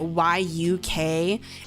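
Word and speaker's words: 육회: Um I think in English letters they spell it y u k h o e but it's pronounced y uk and it's it's beef tartar.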